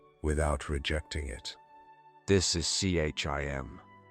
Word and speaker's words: CHIM: Chim, pronounced Kim, is one of the most misunderstood ideas in Elder Scrolls law and perhaps the most profound.